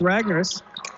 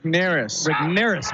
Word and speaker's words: Rignaris: Murphy, defending against Ragnaris. Rignaris, I got to say his name right. Rignaris.